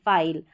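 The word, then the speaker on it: file: कि जैसे ये है एफ आई एल ई फाइल अब इसमें जब इस यह जो ई है यह साइलेंट रहता है तो इसका लास्ट में लगना क्यों जरूरी होता है?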